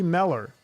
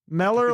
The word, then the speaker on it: Mellor: all right dr miller how are you doing i am fantastic you pronounce my name right it only took me two tries yeah yeah it's okay mellor like propeller yeah okay that's how